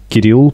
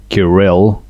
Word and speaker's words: Kirill: and my name is kirill if you try pronounce it in english it will be like kyrell kirill it's the way the englishman pronounced my name so let's do quick